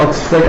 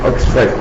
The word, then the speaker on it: ഓക്സ്ഫഡ്: ഇതിനെ ഓക്സ്ഫോർഡ് എന്ന് പറയാറുണ്ട്. അതിന്റെ ഉച്ചാരണം ഓക്സ്ഫഡ് എന്നാണ്. ഓക്സ്ഫഡ്.